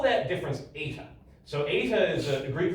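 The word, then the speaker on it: eta: Um, and we call that difference ATA.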